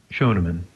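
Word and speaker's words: Schoenemann: name before we get rid of you there shonan shonan okay I think I mispronounced at least two or three times in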